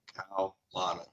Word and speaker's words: Kalana: The KAU is pronounced as cow, like a cow, and then the rest is just Lana. So cow, Lana.